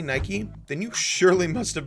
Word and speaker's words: Nike: how is it pronounced then well the proper pronunciation is in fact Nike that's no problem you're welcome wanna know where